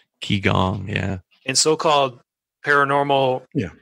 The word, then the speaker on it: Qigong: I don't know if this is how it's pronounced, but Qigong. Qigong, yeah.